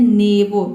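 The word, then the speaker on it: neighbour: और दोनों वोवेल भी साइलेंट है यहां पे। ठीक है? यहां पे हम इसको पढ़ते हैं नेवरो।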